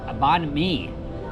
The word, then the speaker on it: Banh Mi: As we did ask inside the proper pronunciation, it is the Banh Mi.